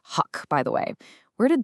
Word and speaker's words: Huk: And it's pronounced Huck, by the way.